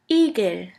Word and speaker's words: Igel: The German word with the letter E is Igel. Igel, which means hedgehog. J. J. The letter J is pronounced like the Y in the word yogurt.